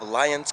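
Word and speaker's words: Lyons: here in lions colorado am i saying it correctly lions yeah totally just spelled a little different uh-huh yeah lions like the animal beautiful how is it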